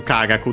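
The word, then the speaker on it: 科学: It can be two based on the context Then I've two Kagaku the most common ones. Both accent on the first mora.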